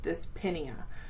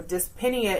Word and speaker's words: dyspnea: But as you can see, our term has dys, dyspnea. So you do pronounce that P because we have the other letters before it. So dyspnea is difficulty breathing.